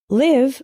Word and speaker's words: live: is live and live live with the same I as in sit means to reside for example I live